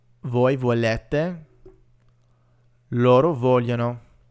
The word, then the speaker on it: vogliono: We have io voglio, tu vuoi, lui vuole, noi vogliamo, voi volete, loro vogliono. And here, remember, we're not actually pronouncing the G's. It's part of another kind of y sound.